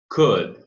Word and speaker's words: could: It could. Could, não tem L nessa pronúncia. Could, essa junção de O, U, L, né? De modo especial nos modais, eles não têm a pronúncia de L.